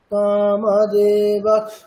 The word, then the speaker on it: কামদেবঃ: অর্ধেক খকারের মতো হবে, তাই তো? তাহলে উচ্চারণটি কেমন হবে? কামদেবঃ কামপালঃ, দেখুন কামদেবঃ, মানে পুরোপুরি কিন্তু খকার হচ্ছে না, তাই না?